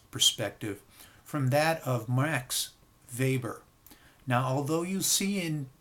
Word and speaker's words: Weber: from that of Max Weber now although you see in the text that this gentleman's last name is spelled w-e-b-e-r it's pronounced Weber that in German W is pronounced as V and vice verse so